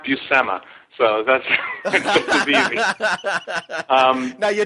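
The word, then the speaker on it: Buscema: do that a lot it's pronounced busema so that's um now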